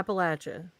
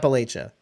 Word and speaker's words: Appalachia: I'm guessing they're in Appalachia. Am I saying it right? Carrier pigeons or something. I don't know. Bridget judgment. Bridget. Appalachia. Yeah. Appalachia. Okay. Not Appalachia. Yeah. Correct. Latch. Not le.